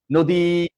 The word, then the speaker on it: নদী: কি বলি যে নদী আমরা কি বলি বলি নারী আমরা কি দীর্ঘ উচ্চারণ করছি নদী নারী আরো অসংখ্য শব্দ আছে দীর্ঘই দীর্ঘইকার যেখানে থাকে সেখানে কি আমরা দীর্ঘ উচ্চারণ করি আমরা তা আমরা করছি না তার মানে হচ্ছে রসইকার